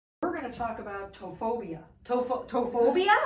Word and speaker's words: ptophobia: going to talk about tophobia.